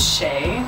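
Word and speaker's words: Shea: an East shower gel we know some people want you to pronounce a shia kiss they're shy about her I'm like it's shay by the way stop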